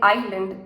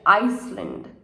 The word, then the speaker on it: island: stay silent for example the s in island is silent we just say Island we don't say Iceland right next the K in